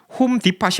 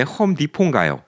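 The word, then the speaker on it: Depot: 티 발음을 안 하나요 홈 디파이 아니라 왜 홈디포요 예 왜 티 발음을 안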